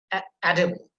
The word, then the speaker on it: edible: When you have able, then you see you have to put emphasis on the first syllable, like edible, then arable, then durable.